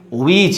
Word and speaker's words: witch: And here is witch, witch, that means silent letter T, that means magician, one who, that means has magic, that means black magic, who has black magic.